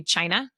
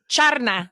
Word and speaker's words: Charna: a lot of people wanted to call me China which is very funny you know be like sha they're like China so I had to keep telling them no like charna like I would say it like that so they could you